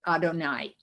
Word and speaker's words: Adonai: and for many many generations jews have been pronouncing this word adonai and part of the fun of reading the